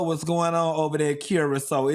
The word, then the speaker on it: Curaçao: Oh they say cute it's pronounced Curaçao.